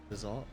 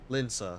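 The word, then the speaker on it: Limsa: How do you pronounce the water, the pirates area? Liz what? Lizal? Linsa? Linsa, that's how.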